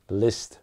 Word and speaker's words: Liszt: Liszt rhymes with pissed.